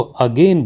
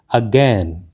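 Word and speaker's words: again: कर देते हैं और हमें इसको अगेन बोलते हैं जो की बिल्कुल गलत है क्योंकि इस का सही उच्चारण है अज्ञान लुट अज्ञान ही कॉर्ड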